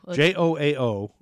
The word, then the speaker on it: João: J-O-A-O. And A's got a squiggly line. How do you pronounce that? Oh, God. I would have looked that one up. Joao.